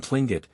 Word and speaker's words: Tlingit: When it comes at the beginning, however, as in the tribal name usually written Tlingit, Americans tend to substitute something more habitual, such as